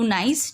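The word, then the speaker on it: gneiss: For example, granite change into नाइस. जो granite है वो नाइस में चेंज हो जाता है, यहाँ पे बेटा जी साइलेंट है.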